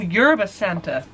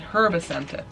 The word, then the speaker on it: Yerba Santa: Oh, Yerba Santa. I thought it said Herba Santa.